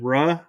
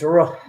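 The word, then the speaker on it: روح: Is it Ruh? Ruh, which means Ruh? spirit, Arabic. Ruh. Roll your tongue. Ruh. It's not Ru, it's Ruh.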